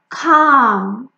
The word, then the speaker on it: calm: Calm, calm, somebody like peaceful, it's calm.